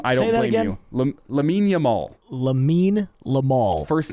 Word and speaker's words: Yamal: in relation to Lamine Yamal. If you don't know the name, I don't blame you. Lamine Yamal. Lamine Yamal. First name, Lamine. Last name, Yamal. There's actually a great photo. Yamal, not Lamal.